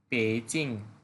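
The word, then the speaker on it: 北京: উচ্চারণটা হবে পেইচিং।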